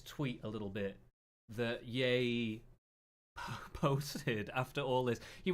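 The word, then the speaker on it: Ye: point of my tweets my name is yay pronounced yay I am the king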